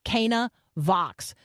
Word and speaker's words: Canavox: wedding at Kaa that's what's in view here Kaa Vox so on this special Thanksgiving week edition of